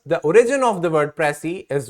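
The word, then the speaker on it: précis: pronounced with a silent s here is the pronunciation key or the word that you can use to say it so it's prey or pressy all right now here is a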